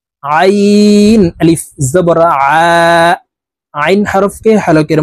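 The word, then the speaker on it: عين: জ আলিফ জবর জ আইন আলিফ জবর আইন হরফকে হালকের মধ্যখান থেকে চাপ দিয়ে উচ্চারণ করতে হবে কারণ আইনের মাখরাজ হালকের মধ্যখান থেকে হবে আমরা অনেকেই এই আইনের উচ্চারণ সঠিক ভাবে উচ্চারণ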